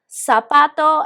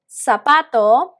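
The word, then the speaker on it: zapato: sa so su okay letter z in spain they will pronounce it differently all right it will be something like that but we generally tried or we generally use this as uh pronounce this as an s in all latin america and i am going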